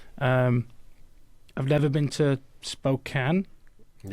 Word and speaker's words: Spokane: Um, I've never been to Spokane.